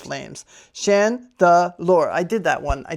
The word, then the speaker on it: Chandelure: For everyone's favorite segment of the day, Pokemon pronunciation of the day. Spooky Chandelure. Chandelure. This Pokemon haunts dilapidated mansions. It sways its arms to hypnotize opponents with ominous dancing of its flames. Chandelure.